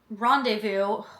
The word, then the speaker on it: rendezvous: And after a disastrous rendezvous, my brain was like, what is this word? Rendezvous, because it's not pronounced, like, phonically, terrible.